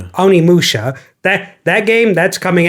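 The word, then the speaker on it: Onimusha: Onimi Musha. Oni Musha.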